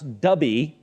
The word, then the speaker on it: Dubhe: So this star, which they tell me I'm supposed to pronounce Dubhe, D-U-H-B-E, I believe, or D-U-B-H-E, it's Arabic, folks, and I'm just not fluent, okay?